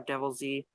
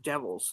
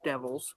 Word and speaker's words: Devils: The Respecter, Milan or Devil Z. Actually, it's pronounced just Devils. Not a lot of people know that, but it's not Devil Z. It is just Devils.